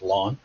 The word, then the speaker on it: ln: for logarithm i'll say ln which is usually pronounced lawn sometimes you say ln of x there's a